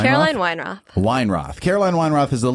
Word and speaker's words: Weinroth: Caroline Weinroth? Caroline Weinroth.